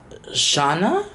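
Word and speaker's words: tjena: ikea makeup storage hack t jenna is pronounced Shauna Shauna Shauna Shauna and Swedish and Shauna means hello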